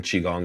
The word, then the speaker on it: Qigong: So Instagram, Facebook is Chris Shelton Qigong, and that's spelled Qigong, not Chigong.